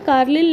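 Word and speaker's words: Carlleyle: कार्लिल, इनका सही pronunciation ऐसे होगा, C.L. कार्लिल ने माइक्रोलिथ का खोज करा था।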